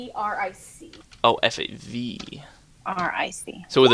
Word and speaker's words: Favric: With a K though, not a C. Okay. Favric.